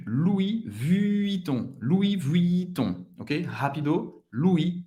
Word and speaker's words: Louis Vuitton: Louis Vuitton. Louis Vuitton. Ok? Rápido. Louis Vuitton. Louis Vuitton. O N tem o som do on.